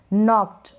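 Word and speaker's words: knocked: तो यहाँ पर ओ को ऑ पढ़ रहे हैं, ठीक है, और ये जो सी के है ना इसको आधा क प्रोनाउंस कर रहे हैं, आधा क बन रहा है यहाँ पर सी के का। नॉक्ड और यहाँ ईडी का आधा ट, यानी वॉइसलेस, आधा ट इसलिए बोला जा रहा है कि वॉइसलेस है, बिल्कुल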